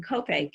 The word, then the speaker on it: Copiague: thing about living in copaque is that everybody says where is it it might it rhymes with cupcake so we thought we'd do